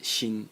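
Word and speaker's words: 心: And the semantic element in the character is this thing over here, which is pronounced xin, and it is heart.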